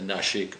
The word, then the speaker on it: Nashik: The reason for that is because Nashik is actually spelt with a diacritical dot over an S, N-A-S-I-K, which in Sanskrit means that the S is cerebralized, so you roll a tongue back in your mouth and you get